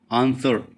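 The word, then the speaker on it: answer: इस शब्द में ऐसा कौन सा अल्फाबेट है जिसकी आवाज नहीं आ रही? आंसर डब्ल्यू की आवाज नहीं आ रही ना?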